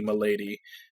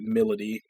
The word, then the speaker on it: Milady: matrixes I get 100 her name should be Milady but they pronounce it Melody same problem I had